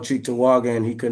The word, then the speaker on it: Cheektowaga: Pronounce that. Cheektowaga? Cheektowaga Yes, sir.